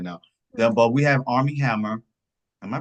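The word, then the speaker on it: Armie Hammer: But we have Army Hammer. Am I pronouncing that name right? Right. Yeah. Okay. Army Hammer.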